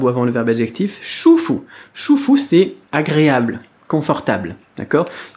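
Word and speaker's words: 舒服: vu plein de toi shufu chouffot à ça c'est moche ou shq ça se prononce comme un ch en français et 1 us comme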